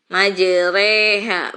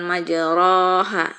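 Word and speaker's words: مجراها: bacanya jadi disini nah ini majreha bukan majroha Hai untuk road nafas ada hanya ini yah tepat diperoleh nada eh selain yang dibasahi malah bacanya dimiringkan bismilahi majreha wa mursaha Jadi bukan majroha majreha inget-inget imalah lanjut Islam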